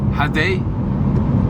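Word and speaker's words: ha det: Ok, est-ce que genre là je dis hadei? C'est bien? Oui, exactement, c'est parfait, tu le prononces très bien.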